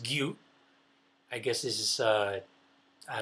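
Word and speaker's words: 牛: This is the kanji for cow. So that means that's pronounced gyu.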